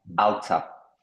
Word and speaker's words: alter: et modifier n'oublie pas le R ne se prononce pas alter non là tu viens de me le prononcer justement alta al tout à fait